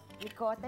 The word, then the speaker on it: Ricotta: Ricotta rhymes with Ricotta.